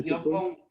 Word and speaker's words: crítico: Crítico sí lleva el acento en la I, pero porque es una palabra como de afianzamiento. Crítico.